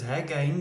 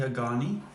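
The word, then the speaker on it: Hagane: steel so a lot of people sort of pronounce it incorrectly as hagen but it's actually a ghani so it's a steel body total construction is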